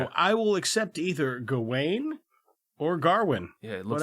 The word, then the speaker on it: Gawain: But in the movie, everybody calls him Garwin. Yeah, they kind of pronounce it with almost like with an R. Come take your seat next to me, Garwin. Garwin. There's no R in it.